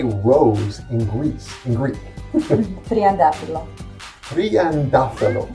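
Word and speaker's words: τριαντάφυλλο: TRIANTAFYLLO.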